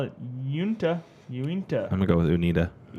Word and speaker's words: Uinta: Uinta. Uinta.